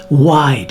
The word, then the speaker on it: Wyde: But today I'm going to be testing the Jekyl Wide and they spell it w y d e, okay? Kind of like Hyde.